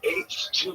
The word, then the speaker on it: ACHETWO: It's H2, but it's spelled weird. I might change it to Humanity Hydrogen, but maybe I should do it. But it's ACHETWO. Like H. It's spelled like H with an E then too. Okay.